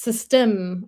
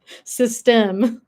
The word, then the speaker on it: Systeme: Not system, but system. System. You have to have that little You have to have that like a little bit of a pause there. Huh? System. So, the accent is on the right part.